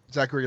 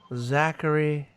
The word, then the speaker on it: Zachary: I love that actor, Zachary Levi. Zachary Levi. I've officially heard it pronounced.